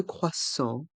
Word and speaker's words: croissant: un croissant un croissant le thé de croissant est muet S un croissant un